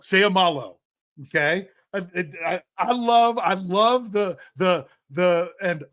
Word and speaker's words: Seumalo: Every vowel gets a syllable. So you have to pronounce every vowel with its own syllable. Seumalu. Or sorry, I said u instead of o. Seumalo.